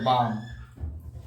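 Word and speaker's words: balm: ठीक है, इसलिए जे एल साइलेंट है तो बाम। एल के बाद अगर एम आती है तो एल साइलेंट हो जाती है, फिर एल नहीं पढ़ते हैं तो हो गई जब बाम।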